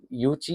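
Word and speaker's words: Yuezhi: और यूची जो है ये देखिए यूची इसका प्रोनाउंसिएशन है।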